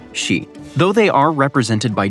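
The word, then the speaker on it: 死: In Japanese, the number four can be pronounced she and the word for death is also she.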